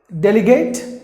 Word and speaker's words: delegate: And then this word, delegate, no delegate, delegate, not gate. Like the gate you close and open, not the gate. Or not Bill Gates, who's got money, not Bill Gates. Delegate, that's the way you have to pronounce the word.